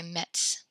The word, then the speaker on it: mettent: and then this one you just kind of hang out on the T sound because there's two of them with the ENT. The ENT is silent, so we say metz.